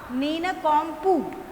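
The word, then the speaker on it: nincompoop: ठीक है, प्रोनाउंसिएशन क्या होगा, नीनकॉम्पुप।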